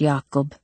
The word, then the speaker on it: Jacob: Oh, my English, Yakob. I have no idea what you mean. Ma pronounced his name the Dutch way with a Y sound at the beginning instead of a J.